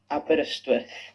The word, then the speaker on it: Aberystwyth: Julgo que seja a pronúncia em gaulês. Aberystwyth.